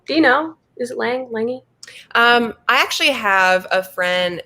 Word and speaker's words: Lange: Is it Lange? I actually have a friend who has that same last name, and she pronounces it Longy. Longy. Even though it looks like Lange.